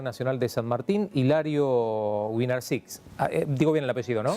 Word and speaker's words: Wynarczyk: de la Universidad Nacional de San Martín, Hilario Winarczyk. Digo bien el apellido, ¿no? Sí, a rigor es Winarczyk, pero se escribe Winarczyk.